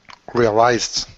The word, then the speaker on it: realized: the Zed right yes okay now again it could be an S if it's the British spelling so here with a zed it's du realized okay so an